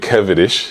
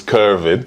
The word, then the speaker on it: Kervin: uh you know uh nice that you've pronounced my name a bit kevanish Yeah but if you get all West ended on it it's curving yeah yeah but uh